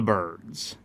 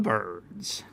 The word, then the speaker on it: Byrds: over the song Turn Turn turn by the birds all right so who are the birds okay